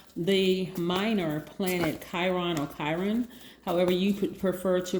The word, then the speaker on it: Chiron: be talking about the minor planet chiron or chiron however you could prefer to pronounce it i'm going to pronounce it chiron